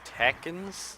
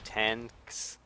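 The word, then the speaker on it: Tenkz: It's Tekkens, but it's T-E-N-K-Z. Tanks. If he wants that to be pronounced like that, he should spell it better.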